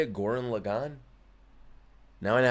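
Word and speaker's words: Gurren Lagann: __ ] M that's how you say it Goran Lagan now I know how to say it nice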